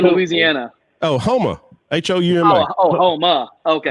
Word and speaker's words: Houma: Oh, Houma. H-O-U-M-A. Oh, Houma. Okay. Puma is actually how they say it. Okay. That's how the Cajuns say it, Puma.